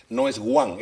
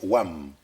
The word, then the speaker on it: one: Así no se pronuncia. No es one, es wam.